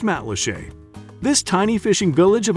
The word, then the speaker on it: Matlacha: Pronounced Matlacha.